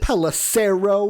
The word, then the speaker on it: Pelissero: Pelissero rhymes with arrow, Dave?